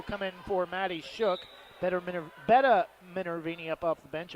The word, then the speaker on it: Betta: Betta Minervini up off the bench. I always want to call her Better. I'm not spelled like better, but only with an A-E-R at the end.